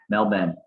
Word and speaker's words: Melbourne: tick tock no man mel ben no that's what the accent mel then is how you say with the accent mel ben screw the tick tock bullies mel burn against the giants i'll